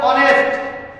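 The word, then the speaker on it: honest: তাহলে এখানে আছে আছে অনেস্ট নিয়মে লেখা আছে এইচ এর উচ্চারণ যদি হইচ এর উচ্চারণ যদি হ বসবে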